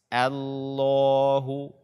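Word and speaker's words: الله: Allah ini juga sangat banyak kaum muslimin yang membacanya dengan tebal allahussomad the Allah akan tetapi bacaanya dengan tipis Allaahu yang tebal adalah lem pada lafazh jalalah nya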